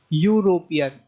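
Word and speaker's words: European: अगर हमने एन लगाया, क्योंकि यूरोपियन ई साइलेंट है, ठीक है। हम सीधा यू से शुरू कर रहे हैं, यूरोपियन, यूरोपियन नहीं कह रहे, हम कह रहे हैं यूरोपियन, ई यूरोपियन गलत होगा, ठीक है।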